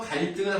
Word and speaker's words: 갈등: 그래서 갈등은 한자어고요. 얘는 한자어 중에서 리을 받침이 있잖아요. 리을 받침에 뭐가 있죠? 티귿이 있잖아요. 그럼 발음 어떻게 합니까? 갈등 이렇게 한다는 거예요.